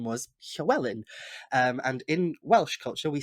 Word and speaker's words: Llywelyn: Its founder was a Welshman, and his last name was Llywelyn. And in Welsh culture, we say it's Llywelyn, and that double L makes a hy noise, hy.